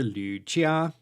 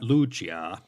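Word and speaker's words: Lü Jia: a non-uh prime minister lucia not lujia the great confucian scholar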